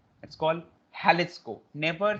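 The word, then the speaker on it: Jalisco: वी कैन not call it जैलिस्को, we call it हैलिस्को। It's called हैलिस्को, never say जैलिस्को, इट्स से हैलिस्को।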